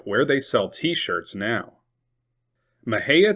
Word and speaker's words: Mexia: Maha, Texas. It is not pronounced Mexia.